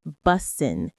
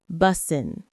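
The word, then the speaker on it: bussin: For now, just know that it's pronounced busen. B U S I N. The stress is on the first syllable. Busen.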